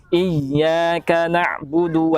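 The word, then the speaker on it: إِيَّاكَ نَعْبُدُ: mungkin kebanyakannya ketika membaca iyyaka na'budu wa iyyaka NST angin di sini mungkin harus lebih dipertegas lagi huruf ya ketika bertasydid ya jangan sampai seperti ini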